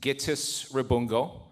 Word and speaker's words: Gittis Rabungo: It's pronounced Gittis Rabungo. I know that sometimes people butcher it. I have no problem with that. I often joke that it's pronounced Gittis un burger, right?